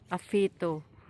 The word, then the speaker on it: Awhitu: Ang pag-pronounce kasi niyan afito. So ang spelling niya a W h.